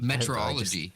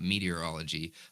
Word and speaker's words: metrology: no I've never actually Metrology so met meteorology I'm I'm pronouncing it wrong it's not meteorology but it's the study of